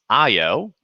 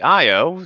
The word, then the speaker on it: Io: one right here is io and io seen here by the galileo spacecraft named after of course galileo the astronomer um is spelled like it sounds i o and it's a small